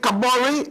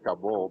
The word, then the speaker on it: Kabori: Is it Kabori or Kabor? Yes. English people say Kabul, but we as African we say Kabori.